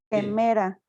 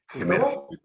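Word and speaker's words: ἡμέρα: Quemera. Bien. En vez de E, por el áspero, es G. ¿Está bien? Gemera.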